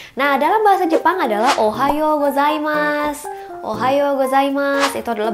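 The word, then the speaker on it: ohayō: sedikit disclaimer buat kalian penulisannya sendiri kan Ohayo ya Ohayo ada u-nya gitu di belakang Apakah bacanya seperti itu bukan jadi cara bacanya adalah Ohayo O nya panjang jadi fungsi huruf u di sini adalah untuk memanjangkan bunyi huruf o nya jadi jangan salah ucap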